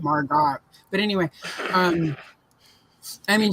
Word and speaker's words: Margot: I go to St Margo it feels like I'm mispronouncing it and it's because it's got that t-o-t at the end and it should be God Margot but anyway um I